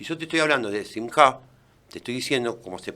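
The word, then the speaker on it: שמחה: Le digo, no se dice Chimja, se dice Simja.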